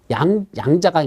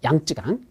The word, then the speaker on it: 양쯔강: 양자강 있죠. 양쯔강. 그래서 한자로는 양자강이라 쓰고 발음은 양쯔강이라고 하는데, 그 양쯔강 하류가 지금 문제랍니다.